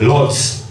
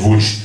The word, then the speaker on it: Łódź: I've been to a place called Lodz. Łódź! See? It's L-O-D-Z. And they're like, no, it's Łódź. It's like, no, it's Lodz. It's like, it's Lodz. It's like, it's, we pronounce it Łódź.